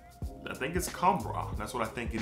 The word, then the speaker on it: Khamrah: But I think it's Khamrah.